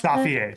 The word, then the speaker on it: Safiye: Safia. Is that is that how you pronounce? Safier.